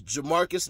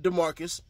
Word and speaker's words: Jermarcus: It was Jermarcus, not Demarcus. A J and a D.